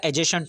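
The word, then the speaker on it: adjacent: डी जो होता है इसका साइलेंट रहता है, वैसे इसमें भी डी साइलेंट रहेगा, एजेसेंट होगा।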